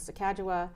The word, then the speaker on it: Sacagawea: some kind of money very early on right Sacagawea accept the correct pronunciation is Sakawa was on a dollar coin susan b anthony